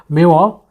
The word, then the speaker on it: memoir: Then memoir ಅಥವಾ meo, that's pronunciation is meo, or the narrative composed from the personal experience.